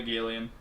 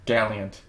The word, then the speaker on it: Gallant: for them anyway um father Galan not Galan gallan a Gallant father Gallant I just said I just said gallan because that's how it's spelled but um um what do